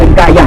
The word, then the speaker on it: คยา: ประเทศ ไทย นะ ครับ การ บิน ไทย เขา จะ ออก เสียง เป็น กายะ กายะ นะ ครับ แต่ ที่ จริง แล้ว เ่อ ผม ชอบ ออก สิ เป็น ยา มาก กว่า มัน จะ ดู แล้ว